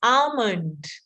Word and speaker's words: almond: The L again is silent. Absolutely correct. It's almond.